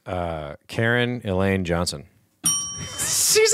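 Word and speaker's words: Caryn: standard it's like why c a r y n oh well sarah it's not karen but she's totally a karen yes she's so okay say her name one more time it's karen what karen elaine johnson elaine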